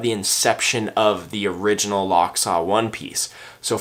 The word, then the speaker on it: Lochsa: locks our onesie and it is pronounced lock saw as in the lock saw River located in Idaho you'll find climb will